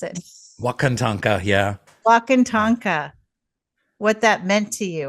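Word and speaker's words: Wakan Tanka: Um, I could read from your book or do you want to talk about what walk Okay, how do you pronounce it? Wakanta. Yeah. Wakant Tonka.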